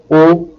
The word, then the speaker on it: haut: In the case of the last four adjectives, haut, heureux, humain, and humide, you will note that H is silent, but although silent, it still exists. It acts simply like a silent letter.